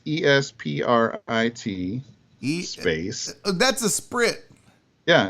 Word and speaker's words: esprit: it is like that it's e-s-p-r-i-t e-space that's a sprit yeah a sprit the sprit and then d e how do